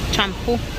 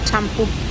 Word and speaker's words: champú: Mira, champú. Champú. I know that's how I grew up hearing it. I didn't hear it pronounced shampoo. It was champú.